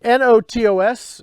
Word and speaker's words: Notos: a reply back but it's notos and so notos notice no Toes that would be an e there I think we're not